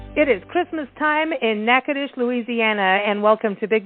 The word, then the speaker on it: Natchitoches: All I know is you got to go to Nack-a-tish.